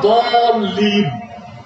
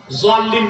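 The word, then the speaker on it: الضالين: তো আসলে উচ্চারণটা দলিন, জোয়াল্লিন না। জোয়াল্লিন করলে বরং নামাজি হবে না।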